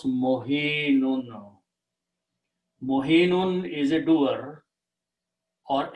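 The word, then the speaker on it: مهين: So what we do to easy pronunciations, we switch these two harakats. So we take the kasra back here and bring the sukoon here. So the word now is easy to pronounce, mohinun.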